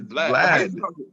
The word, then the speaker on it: Vlad: I think it's Vlad. Vlad. There you go. Vlad. There we go. Use a lad with a V in front of that shit.